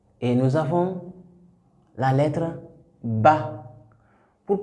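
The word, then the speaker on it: ب: La bouche est fermée et pour prononcer Ba. Ba. C'est pour dire tout de suite que les points de sortie de ces lettres-là, c'est entre les deux lèvres. Il n'y a pas question de langue, il n'y a pas question de dents. C'est entre les deux lèvres seulement.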